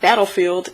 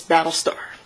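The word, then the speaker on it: Battlestar: name cap's new partner his name is not battlefield it's battle star this is what happens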